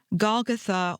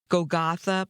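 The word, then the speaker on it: Golgotha: out by this thing gatha or I've heard it pronounced several different ways throughout my life gotha but gatha seems to be the way that people want to pronounce it now that is the location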